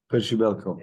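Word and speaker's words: Przybyłko: Kamara, I don't know how to pronounce well the Polish striker. How do you, Percibiko? Percibelko.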